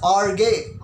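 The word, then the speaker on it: ὀργή: The wrath of God is pronounced in Hebrew as arge.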